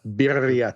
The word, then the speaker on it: birria: And they're called birria tacos. And I don't know if I'm pronouncing that right, Sergio, but you got to roll your R a little bit more. Yeah, birria tacos.